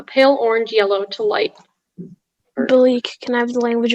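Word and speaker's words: Belleek: a noun the league are there any alternative pronunciations just the one bleak bleak b e l l e e k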